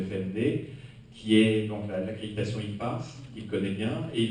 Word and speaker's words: EPAS: Alors, l'accréditation IPAS, donc ça s'écrit EPAS pour European Program Assessment